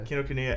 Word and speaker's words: Kinokuniya: Is that how you pronounce it? I keep. Oh yeah. Kinokuniya, Say and with then confidence.